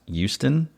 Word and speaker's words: Houston: I mean, unless you're from Houston. Yeah. Um I correct me if I'm wrong, but isn't it pronounced Houston? No. No, definitely you say the H.